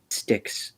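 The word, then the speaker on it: Styx: My name is Stixs, by the way. All right. Uh, it is spelled s t yx by the way.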